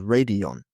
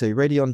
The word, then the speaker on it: Raidillon: One brand was a German brand called Elise, and another brand was, I believe, Belgian called Radion. And that's spelled, well, Elise is spelled Elyssee, and Radion is spelled Raidillon.